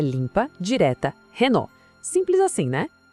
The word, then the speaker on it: Renault: A gente vê o mesmo padrão aqui, igualzinho em Peugeot ou as letras no final, nesse caso LT, são silenciosas. O nome termina no som do O. A pronúncia é limpa, direta, Renult.